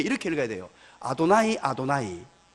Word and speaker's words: 아도나이: 아도나이라고 읽었어요. 그래서 오늘 이 본문을 다시 보면요, 읽을 때 이렇게 읽어야 돼요. 아도나이, 아도나이 두 번 읽어야 돼요.